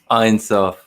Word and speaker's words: Ein Sof: Ein Sof.